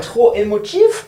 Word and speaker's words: trop émotif: How do you pronounce this? Maybe I'm so excited. Oh, trop émotif.